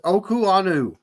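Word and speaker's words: Okuayinonu: definitely start it's uh it's oku Anu okanu that's how you pronounce that guys should definitely start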